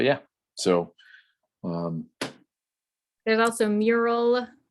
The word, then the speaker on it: Mural: so um there's also mural m-u-r-a-l which sounds entirely too close to miro you have to pronounce it awkwardly different but yes and then